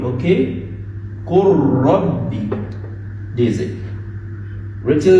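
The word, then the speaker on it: قُلْ رَبِّ: It is qul and rabb, but complete idgham.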